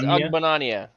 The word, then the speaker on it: Ogbonnia: Otito Ogbengbo. Is that it? Is that him? That's some way to pronounce his name for sure. Yeah. Otito Ogbonnia. Oh, it's Ogbonnia.